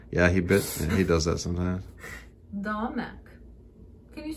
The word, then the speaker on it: domek: Domek.